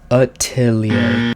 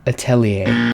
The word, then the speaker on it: Atelier: How do you pronounce that properly? Atelier. Atelier.